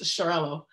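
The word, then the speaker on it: Xarel·lo: macabeo than anything and i tend to like shirello based shirello dominant um oh by the way that x x a r e l dot r o that grape is pronounced charello um working in the wine shop i have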